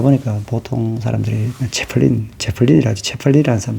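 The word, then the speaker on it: Zeppelin: 어떤 페르디난트 아돌프 하인리히 아우구스트 그라프 폰 제플린 이래 돼 있거든요. 이름이. 근데 제플린이라는 건 이제 우리가 영어로 하면 제플린인데 독일어로 하면 체펠린이 되거든요.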